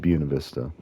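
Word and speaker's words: Buena Vista: So yeah, and so I know people say it buista, but that's one of the things of the locals is like the locals say it buista just like you don't say Los Angeles.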